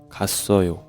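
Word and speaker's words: 갔어요: So, we pronounce ka sso yo. kasseoyo kasseoyo naneun hakkyo-e kasseoyo.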